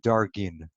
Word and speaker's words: dargin: and hundreds of times you'll find the word dargin. The plural is dargin, D-A-R-G-I-N, you could spell it, and the singular darga, D-A-R-G-A.